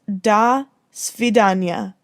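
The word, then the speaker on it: до свидания: the association might have been different it is pronounced da svidanya and it is russian for goodbye a person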